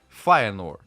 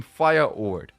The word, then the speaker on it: Feyenoord: Putting together, it became Feyenoord, Feyenoord. But people from outside of the Netherlands didn't know how to pronounce the IJ, so in 1974 they changed to Feyenoord with a Y.